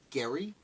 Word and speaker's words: Gerry: before we get started I've heard arguments that the name is pronounced Gary Elbridge Gerry I believe